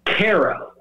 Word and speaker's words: Cairo: and this is hysterical it spells exactly like cairo oh wow right like but it's cairo is how they pronounce